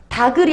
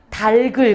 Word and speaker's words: 닭을: 그럼 발음을 어떻게 해야 돼? 다글이 아니라 달글. 그렇지. 이상하기는 하지만 달글로 발음을 해줘야 돼요.